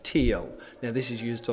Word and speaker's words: TEEL: the structure that you need to remember is t e a l which is commonly pronounced teal now this is used a lot in formal